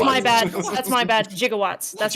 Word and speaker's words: gigawatt: Jigawatts.